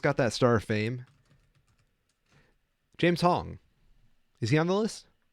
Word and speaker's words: James Hong: Is it James Hong pronounced exactly like it sounds? Yep.